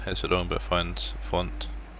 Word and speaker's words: Fonte: Choice heads it long but finds Fonte. I think he's pronounced Font, or I pronounce it Fonte.